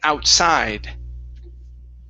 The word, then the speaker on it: outside: Okay, here we want to stress the end of the word. He went outside.